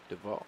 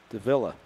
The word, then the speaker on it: Davila: for the hazel aviators isaac duval duvall de deville oh yes let's go let's see how's this spelled davila davila yeah d-a-v-i-l-a davila there we go that was an e